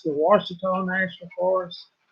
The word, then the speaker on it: Ouachita: If you're asking what forest that we're near, it's the Ouachita National Forest, which it's spelled Oachita, not like it sounds.